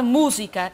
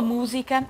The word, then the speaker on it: música: usa usar a palavra música Numa música é difícil por causa da tônica da tal sílaba tônica que o SUS tem atenção quando cantou dizer música mas não é música é música é música e ele